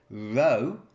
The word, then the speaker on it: rho: by volume or in symbols I could say Rho equals M over V okay so we look at that wanna density Rho equals mass divided by volume okay so let's